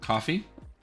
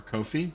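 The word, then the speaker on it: Ko-fi: it in chat um coffee or kofi depending on who you are and how you choose to pronounce it it's kind of like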